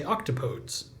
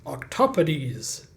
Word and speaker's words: octopodes: If we treated it like an English word, we'd say octopodes, which I actually kind of like.